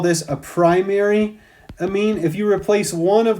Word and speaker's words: amine: we have an amine sometimes people pronounce them a mean but I call it an amine and the generic formula